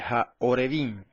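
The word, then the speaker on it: הָעֹרְבִים: el segundo caso, más abajo, se vocaliza con una O, que es el puntito que está arriba y a la izquierda de la Ayin, la segunda letra. ¿Ves? De suerte que arriba dice Ha-Arebim y abajo dice Ha-Orebim.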